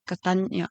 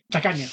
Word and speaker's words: tacaña: I love traveling and I'm also a Catania. No, how do you say it? Tacaña.